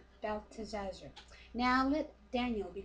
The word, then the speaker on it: Belteshazzar: How do you pronounce his name? Belteshazzar.